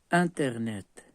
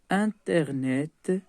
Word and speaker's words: Internet: Le E est muet. Il ne se prononce pas. Internet est un outil pour la recherche de l'information et du savoir.